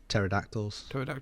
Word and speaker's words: pterodactyls: am i thinking of pterodactyls yeah sorry my bad velociraptors are not going to fly with pterodactyls i don't know because the p is silent i